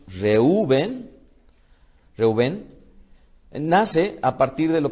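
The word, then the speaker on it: Reuven: amará mi marido entonces Rubén cuya pronunciación es reúven nace a partir de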